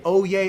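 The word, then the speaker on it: Oyez: not know this but they say oh yeah oh yeah oh yeah they say this three times it's spelled o-y-e-z and um it is a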